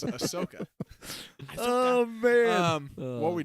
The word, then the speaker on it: Ahsoka: bit weird you know they say they love this Asoka and I could promise you I can promise you that they love this Ashoka it's Ahsoka oh man what are